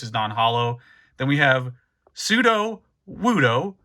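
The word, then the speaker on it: Sudowoodo: Then we have Pseudo Wudo, pronouncing it correctly this time.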